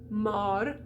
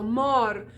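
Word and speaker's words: mort: to talk about this if the o is followed by two consonants it's like a gate you open it up so you can go through okay so mar m-o-r-t has two consonants that follow doesn't mean you pronounce them all but it's followed by two consonants so you can open that up like a gateway so mar or alar it's followed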